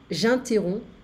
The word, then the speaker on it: j'interromps: J'interromps, so I don't hear the P.